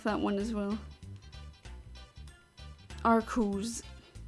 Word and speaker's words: Arceus: Am I the only one who pronounces the name like Arceus? Arceus? It is really confusing as of what the correct pronunciation is, but the latest Pokemon media say Arceus. And I also always said Arceus. Like in Pokemon Battle Revolution it says Arceus.